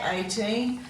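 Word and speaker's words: eighteen: so when we say 18 we move out that G H when we say it but when we spell it we have to write those two letters in and we've got the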